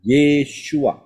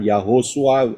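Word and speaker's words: ישוע: pasti ya melalui yesua empat huruf Yod Shin wau Ayin bacanya yesua bukan yahosua atau yahosa atau apa saja tidak tapi yesua dan di dalam kata yesua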